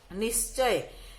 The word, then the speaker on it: निश्चय: उसके बाद है निश्चय। तो निश्चय में आप देखिए, इसका उच्चारण होगा निश्चय, क्योंकि स पूरा लिखा